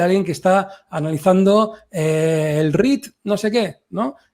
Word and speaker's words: REIT: Primero no se dice, Jordi, no se dice rate, se dice REIT, ¿vale?